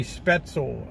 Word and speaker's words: spaetzle: there's Mr Z yeah this is pronounced as a short e spetzel okay Mr Z brought me up there Joe somebody's brought some spaetzle yeah I'm gonna run